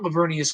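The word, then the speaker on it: Laveranues: at this time but no it is not lavernius Kohl's uh by the way I'll take care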